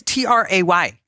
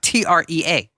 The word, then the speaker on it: Trey: Okay, Trey is TRAY. Okay. Trey is not TREA.